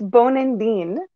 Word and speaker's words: Bonandin: So for the proper pronunciation, it's Bonandin.